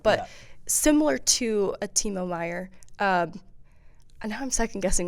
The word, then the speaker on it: Meier: But similar to a Timo Meier, and now I'm second guessing myself as I say it out loud. No, it's Meier. It's Meier for sure.